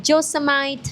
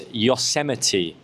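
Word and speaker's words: Yosemite: Anyway, the next one is uh Joseite National Park in the USA. What? What? Okay, Charlotte, you've just butchered another English word. Okay, so this is a famous national park in the USA. It's also the name of a MacBook software from a few years ago. No way. It's Yoseite. Yuseity.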